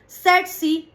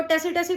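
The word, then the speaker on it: tsetse: तो वो है हमारे पास सेट सी फ्लाई। इसको टेसीटसी फ्लाई या सेटसी फ्लाई भी बोलते हैं। दोनों ही प्रोनाउंसिएशन सही है।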